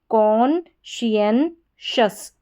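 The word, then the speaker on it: conscientious: पहले हमने पढ़ा CON कॉन, फिर शियन SCIEN शियन, और फिर शस TIOUS शस। तो पूरी स्पेलिंग हमारी क्या बन गई? कॉन्शियनशस, कॉन्शियनशस, कॉन्शियनशस, कॉन्शियनशस। इस तरीके से ये इसका उच्चारण होगा।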